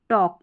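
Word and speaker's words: talk: फिर देखिए नंबर 17 में है शब्द के अंत में ये LM, LK, LF, LD हो तो L का उच्चारण कई बार नहीं होता। कई बार नहीं होता मतलब मैक्सिमम, ठीक है। जैसे इसको काल्फ, हल्फ, योल्क, फोल्क, टॉल्क नहीं पढ़ेंगे। यहाँ पर इन सभी स्पेलिंग में जो है L साइलेंट है। जैसे काफ, हाफ, यॉक, फॉक और टॉक, इस तरीके से इनका उच्चारण आप करेंगे।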